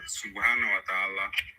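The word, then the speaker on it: سبحانه وتعالى: Subhanahu wa ta'ala.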